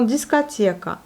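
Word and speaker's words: дискотека: Ensuite, nous avons discothèque, discothèque. Discothèque. Encore une nouvelle fois, le O se prononce comme le A, il n'est pas accentué, l'accent se porte sur les dernières syllabes, donc sur la voyelle I.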